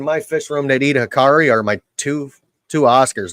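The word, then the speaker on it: Hikari: make fun of it the Hickory what what is it Hickory Hickory or whatever hiari yeah hakari hakari that's right mostly all my little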